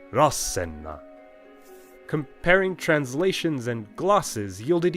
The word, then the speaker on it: Rasenna: It's a major clue that Etruscan words started with a heavy accent on their first syllable. Not Rasenna, but Rasenna.